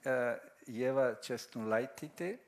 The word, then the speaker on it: Ieva Česnulaitytė: So today we have, and I hope I will pronounce it correctly, Ieva Česnulaitytė.